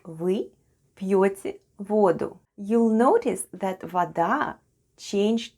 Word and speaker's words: воду: When the original noun ending is a, we change it to u and occasionally shift the stress to the other syllable.